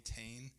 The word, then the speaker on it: Thoene: good book series by a person whose name is hard to say versus how it's spelled, but it's Bodie Thoene. Thoeny is t h o e n e, I think is how it's spelled, if I remember correctly.